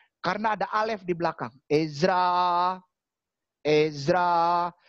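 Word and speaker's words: עזרא: Ezra. Ezra. Itu hurufnya ayin. Dari paling kanan ayin, sebelah kirinya zain, sebelah kirinya resh, sebelah kirinya alef. Bacanya Ezra.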